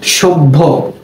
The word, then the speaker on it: সভ্য: উদাহরণস্বরূপ আমরা বলতে পারি সভ্য, সভ্য বানানটা কেমন? দন্ত স ভ জফলা, এর উচ্চারণ হয় সভ্য, কেমন? তাহলে জফলা থাকার কারণে ভয়ের উচ্চারণটা দুইবার হলো।